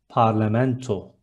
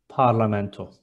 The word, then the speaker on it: parlamento: Next one, parliament is parlamento. There is O letter in the end, and it is parlamento.